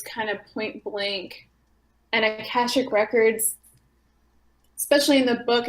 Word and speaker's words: Akashic: is how do you say that word again Kashuk records Akashic records I think that later I might we